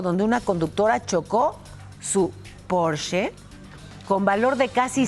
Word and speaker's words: Porsche: Que Porsche, no es Porsche, es un coche alemán y la pronunciación correcta en alemán es Porsche.